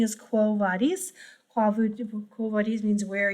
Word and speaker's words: quo vadis: So, and since it has nothing really to do with church Latin, I use the classical pronunciation, quo vadis.